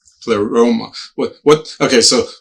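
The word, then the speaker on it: pleroma: first of all there was a phrase called plemora of spiritual be beings. Now I know what plethora is. I don't know what plemor is. I'm assuming the word is similar pleoma.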